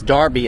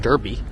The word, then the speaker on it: Derby: I just learned that Derby is Darby and not Derby. Someone someone should really explain that to me because it it's not spelled like Barbie, but you know that's the American part of this.